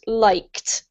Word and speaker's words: liked: it has a D in the spelling, but it's pronounced as if it were a T, so it's pronounced liked.